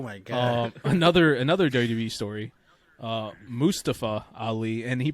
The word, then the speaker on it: Mustafa: He used to be Mustafa Ali, and everyone's like, "Oh, that's his name." Then one day he's like, "No, it's actually pronounced Mustafa."